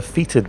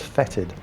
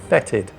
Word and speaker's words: fetid: of that thing i've been calling it a featured bloat drum it's actually pronounced fetid it's one of those words that you see